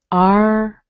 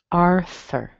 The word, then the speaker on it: Arthur: And then unvoiced TH, followed by Thur. Thur. It's pretty weak though. Thur. Arthur. Arthur. Okay. That one might take a little bit of work, mainly because of the pronunciation, the R, the TH.